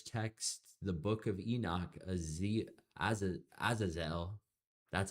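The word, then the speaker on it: Azazel: The ancient Jewish text, the book of Enoch, Aazelle, that's how you say it, is named as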